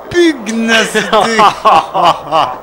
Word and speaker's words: pugnacité: c'est très difficile puisque normalement le G et le N se prononce ni exceptionnellement c'est la pugnacité ils sont magnifiques ils